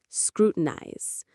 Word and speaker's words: scrutinize: The word is scrutinize. Let's say it slowly. Scrutinize. three parts. Screw ties. The stress is right at the very beginning. Screw ties. It has a very precise almost cutting sound to it.